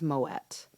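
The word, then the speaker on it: Moët: bottle of vouve or it was Moet and that is how you pronounce it just so you know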